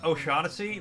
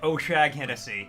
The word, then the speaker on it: O'Shaughnessy: I have to stop myself from pronouncing O'Shaughnessy like Oshag Hennessy because of that fucking bit.